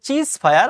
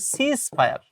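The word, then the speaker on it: ceasefire: পরবর্তী প্রশ্ন হচ্ছে, এটা অনেকে উচ্চারণ করে চিজ ফায়ার, আসলে এটা উচ্চারণ করতে চিজ ফায়ার না, এটার উচ্চারণ হচ্ছে সিজ ফায়ার।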